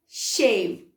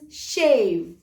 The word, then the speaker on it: shave: शेव. Why? Because E is silent when it comes at the end of a word and it makes the whole word lying down.